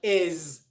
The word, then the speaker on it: is: end of words like is and has and that's why many people mispronounce the words is enhance one because they don't realize it's a Zed sound but two because if